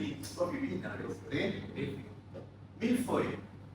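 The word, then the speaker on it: mille-feuille: Milfoy. Pronounce it properly, please. Milfoy.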